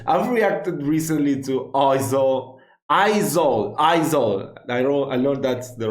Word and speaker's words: Aizawl: Aizawl. I learned that's the right pronunciation.